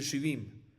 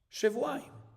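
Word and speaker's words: שבעים: yud y podrías, y según la escritura, deberías de poder decir shivim, pero hay una pronunciación que nosotros recibimos. Y la pronunciación que recibimos de la tradición, ¿cuál es? Shevuaim.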